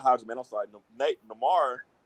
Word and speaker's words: Namor: Namor. Is it Namor or Namor? Am I saying it right? Everybody pronounce it Namor. So it's Namor.